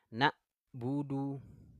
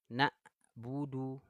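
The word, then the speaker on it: نَعْبُدُ: Coba di sini teman-teman kalau saya bacanya seperti ini ini kalimatnya kalau saya baca seperti ini kira-kira Benar apa salah ya na' buudu na'budu nah kira-kira saya membaca huruf ainnya di sini tepat apa enggak nih Benar apa salah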